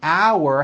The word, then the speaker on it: our: The second word our has that out like in the word out and it has a hidden double in the middle. Our. Think of the word hour having two syllables. One, two. Hour, like that.